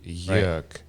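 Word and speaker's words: Jörg: a german name right it's a german name it's always an umlaut two dots on the o so it's actually york so it's not styling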